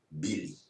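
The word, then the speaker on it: mbili: M-B-I-L-I. The M is silent. It's just there for front. Bili.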